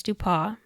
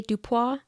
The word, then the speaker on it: Dupas: early years of James dupa Thea see my mouth wants to say dupa but it's dupa but it's spelled dupass yeah I don't speak